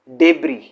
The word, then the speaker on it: debris: Next है डेब्री, इसमें again हम एस को साइलेंट कर देते हैं, डेब्री या डेब्री, इसका मतलब होता है कचरा, मलबा, डेब्री।